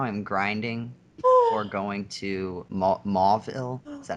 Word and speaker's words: Mauville: Yeah, I think right now I'm grinding for going to Mauville. Is that how you pronounce it?